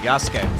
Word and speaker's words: Yasuke: Also, the game trailer yesterday confirmed I was pronouncing it right, Yasuke.